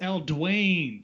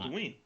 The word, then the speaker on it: Eldween: it's L. Dwayne. Sorry, that's. You're putting the emphasis on the wrong syllable. As I said, Oh, she's not. Eldween.